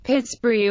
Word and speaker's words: Pittsburgh: As Forbes was a Scotsman, historians speculate that the pronunciation of the name was originally intended to be Ptsbury, Pittsbury or Pittsbury.